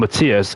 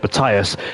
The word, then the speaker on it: Matthias: One of my mates is called Matthias. He's Norwegian and we pronounce it that way, but I know in Dutch it's Matthias.